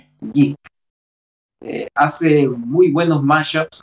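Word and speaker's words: Jeik: Bueno, hay un amigo que tengo que es también de Perú, que se llama Jig, que se escribe J-E-I-K. Una J, dos E y una K. Jig.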